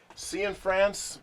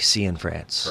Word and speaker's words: Cianfrance: okay uh Derek I've been told your last name is uh Sean France but I don't I don't trust myself so why don't you go ahead and pronounce it officially so we get it right yes Derek seean France perfect okay very good